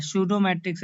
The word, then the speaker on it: pseudometric: Matric space नहीं होगा, इसमें पी साइलेंट हो जाता है, सूडो मैट्रिक्स स्पेस हम लोग पढ़ते हैं।